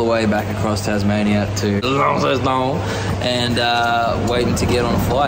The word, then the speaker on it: Launceston: We're going to Launceston, I believe it's pronounced. Launceston.